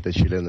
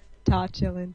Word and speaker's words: Tochilin: so yeah, it's Andrey Tochilin in Russian, but you can pronounce it in the way which is comfortable for you. Okay, so you were teaching me. I'm chillin', you're chillin', Tochilin.